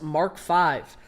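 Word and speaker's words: Mark V: In the British terminology, it's pronounced Mark Five.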